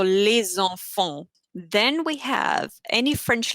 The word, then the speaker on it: les enfants: When you pronounce it, you basically connect the two words. For example, l'hôpital. For example, les enfants. So you don't say les enfants, because in French, it's always how it sounds. It's almost like like singing really. So les enfants.